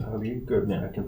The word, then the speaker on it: Tlaib: It's spelled Tlaib, but it's pronounced Tlaib. Tlaib, good.